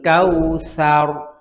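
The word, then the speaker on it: الكوثر: একই জায়গা থেকে হয় জিহ্বার আগা সামনের উপরে দুই দাঁতের আগা থেকে জাল এবং ছা দুইটাই উচ্চারিত হয় পাতলা তুলার মত নরম পাতলা ভাবে উচ্চারণ করতে হবে হ্যাঁ কাল কাউসার সার সার হবে না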